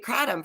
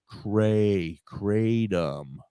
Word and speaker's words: kratom: Kratom. Well, kratom is what they call it in Europe. In Asia, it's kratom. I'm sorry. But when I say it like that, people look at me like I'm insane. So no, kratom is how the Americans say it.